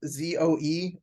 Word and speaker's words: Zoe: think there's a girl's name also you know it's spelled z-o-e or Zed if you're British z-o-e Zoe it